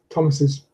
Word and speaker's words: Thomas's: We add a vowel between the S of Thomas and the apostrophe S, Thomas's.